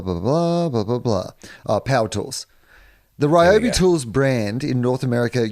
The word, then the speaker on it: Ryobi: have just come up ryobi is how it's pronounced uh podcast mike has put that up on the little message window and it says it's ryobi source i can read japanese